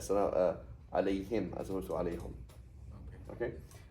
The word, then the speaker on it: عليه: No, why is it not alayhu? Why is it alayhi? Because of the ya.